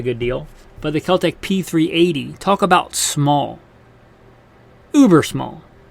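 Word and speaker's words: P3AT: stock though P38 and it's pronounced like p380 but it's not spelled that way it's the keltech p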